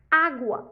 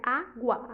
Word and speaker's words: água: Água é uma paroxítona, porque a penúltima sílaba é acentuada, né? Água, a penúltima sílaba é acentuada.